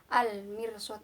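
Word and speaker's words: المرصاد: Setelah itu ada hukum bacaan al-qamariyah, yaitu alif lam bertemu dengan mim. Jadi cara bacanya harus jelas. Labil mirsad, al mirsad, al mir, jelas ya.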